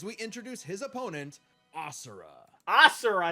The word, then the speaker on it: Asura: Asura is how you pronounce his name.